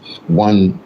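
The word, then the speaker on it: Juan: It's pronounced one. It's actually like J U A N but it's pronounced one.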